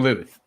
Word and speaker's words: Lueth: Lueth rhymes with the truth.